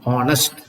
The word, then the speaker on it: honest: ஏன் wrong அப்படின்னா, though the word honest begins with H, the consonant letter, பட் அதனுடைய உச்சரிப்பு என்ன இருக்கு, அதனுடைய ப்ரொனன்சியேஷன் என்ன அப்படின்னா honest.